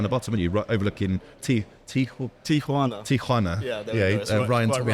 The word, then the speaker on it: Tijuana: And you're right down the bottom, and you're overlooking Tijuana. Tijuana. Yeah, Ryan taught me how to rough on pronounce the throat when I say Tijuana that.